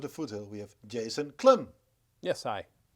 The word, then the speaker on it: Klamm: Today we here right in the studio at Community Medias of the Foothill we have Jason Klamm. Yes, hi. Did I say Klamm? No, you said it right.